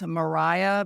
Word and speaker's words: Maria: Here it's Mariah. It's spelled Maria, Maria, and her last name is Epes.